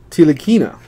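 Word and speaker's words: Ntilikina: Knicks player here now he says that n is silent so Frank teal akina by the Knicks I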